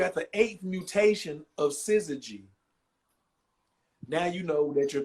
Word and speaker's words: syzygy: That, Syzygy is not SCIZ. It's SIZ. Syzygy.